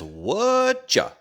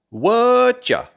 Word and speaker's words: Whatcha: Whatcha sounds and spelled like this: Whatcha, Whatcha. It's the shortened form of what are you. We shorten it to what you, and then we even shorten the you to ya. Whatcha.